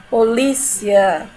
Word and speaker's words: polícia: você um vogal certo polícia não quando eu digo polícia we ele é pronunciado de maneira mais fraca e o ali tem mais presença e pronunciado de maneira mais forte tá certo depois que